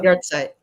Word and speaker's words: Yahrzeit: And I don't know how to pronounce the word, the Hebrew word, Yarzeit. How do you say that? Yahrzeit.